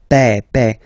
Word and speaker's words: père: Remember, E accent grave like that. It's this opened E. Père.